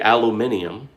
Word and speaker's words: aluminium: this is an all aluminum all aluminum the brits say aluminium razor from henson shave